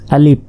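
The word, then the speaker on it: ألف: আলিফ শেষে ফ, অনেকে প এর মতো উচ্চারণ করে, বাংলা প শেষে আলিফ আলিফ বলে, আসলে এটা আলিফ আলিফ। আর আলিফে কোনো টান নেই, এটা দ্রুত বলতে হবে।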